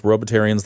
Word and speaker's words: Robotarians: Is Robotarians the correct pronunciation?